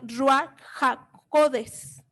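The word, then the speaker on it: רוּחַ הַקֹּדֶשׁ: En el hebreo se pronuncia Ruach HaKodes.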